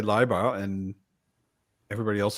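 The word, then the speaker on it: Leiber: pronunciation in America but since I learned to speak German IE is e and EI is I yeah so liar is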